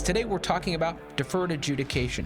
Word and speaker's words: adjudication: i think that we should point out um adjudication is in fact the word um i have heard virtually no one ever pronounce it correctly we people call in and